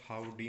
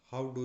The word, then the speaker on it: Howdy: तो वहाँ पे बोला जाता है हाउ हाउ डू यू डू, ऐसे करके। तो उसको जब उच्चारण के रूप में लिया है तो उसको बोला जाता हाउडी।